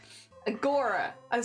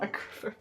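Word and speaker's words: agoraphobia: don't like as much Agora iophobia not aop phobia I'm so sorry keep saying it wrong a lot of fun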